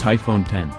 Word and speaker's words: iPhone X: the first ever iPhone pronounced iPhone 10 like the Roman numeral it represents the ofone X featured